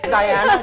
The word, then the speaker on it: Diana: This is Diana. Well, see, I call her Diana, but she said it's Diana. It's Diana. With a J. With a J. With a silent J.